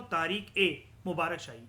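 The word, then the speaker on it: Tarikh-i-Mubarak Shahi: मुबारक शाही ठीक है बीच में इंग्लिश में लिखा रहता है आई या ई इसको बोला जाता है अगर आपको प्रोनाउंस करना है तो तारीख ए मुबारक शाही येय बोला जाता है ठीक है याद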